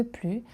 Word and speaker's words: plus: Mais si on veut dire je travaille davantage, il faut prononcer le s pour marquer la différence.